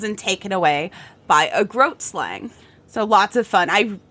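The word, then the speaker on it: Grootslang: I am Groot slang. It really is spelled like Groot slang, but it's pronounced like Groat slang.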